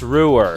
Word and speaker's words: Roer: an official statement until tomorrow yes okay it's pronounced Ruhr yes I'd like you to begin as soon